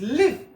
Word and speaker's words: live: We have a long vowel, and this one is live. We have a short vowel.